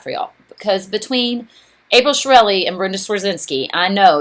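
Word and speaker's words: Chiarelli: It's Shirelli. It's like a chia pet, C-H-I-A, and then you just add Relli at the end, R-E-L-L-I.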